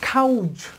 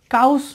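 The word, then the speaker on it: cows: বলি ডাব্লিউ থাকে সেক্ষেত্রে যখন প্লুরাল করব তখন এটার উচ্চারণ হবে জেড এর মত আবার এখানেও টি টি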